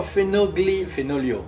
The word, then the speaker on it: Fenoglio: Fenoglio. Fenoglio. Ah, c'est gentil de le prononcer correctement, ça fait plaisir. À l'italienne.